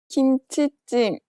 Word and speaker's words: 김치찜: 김치찜 김치찜 Did you hear the short pause before the tensed consonant?